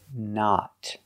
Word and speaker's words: not: We cannot say not. We use the short sound ah like hot and stop. The short ah sound. Not. Not. The correct pronunciation is not. Use a stop T at the end and a short O. Not.